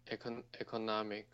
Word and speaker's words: economic: Economic. Okay, so that word is read as yes, you pronounce it right, but the stress must be economic.